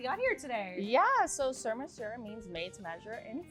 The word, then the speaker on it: Surmesur: It’s episode three and today we have Carly here from Surmesur Did I pronounce that right?